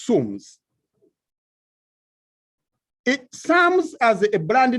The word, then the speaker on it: SAMS: So I chose to bring a brand name which is close in terms of pronunciation, much as some of our customers pronounce it as Sams, but it is Sums.